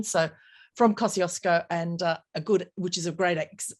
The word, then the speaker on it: Kosciuszko: And I'm going to mangle the word because we Australians say Kosciuszko, but apparently that is not the proper Polish pronunciation. So from Kosciuszko, and which is a great example of Aboriginal activity.